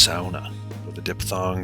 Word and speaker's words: sauna: the word is pronounced SAA with a dip thong drawing out the transition from the a to the U similar to sauerkraut and distinct from fraud SAA is the one